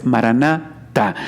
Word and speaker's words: Maranatá: Pero bueno, la palabra, como tenemos que pronunciarla, es Maranatá.